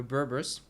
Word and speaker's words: Berbers: Okay, so we got those guys here, the Berbers. That's how it's pronounced.